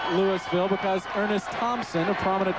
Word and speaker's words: Lewisville: Lewisville spelled like Louisville, but Southern fans know that it's pronounced Lewisville because Ernest Thompson, a prominent running back, hailed from Lewisville, Georgia.